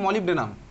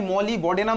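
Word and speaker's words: molybdenum: হবে সিম্পল নাম নরমাল নাম কি হয় ভাই মলিভ ডেনাম মলিভ ডেডনাম বানান কি বলতো মলিভ ডেনাম মলিভ ডেনাম এই হচ্ছে আমার বানান বাংলায় ভাই মলি বডেনাম তুই বলিস মলি বডেনাম একচুয়ালি নয় মলিভ ডেনাম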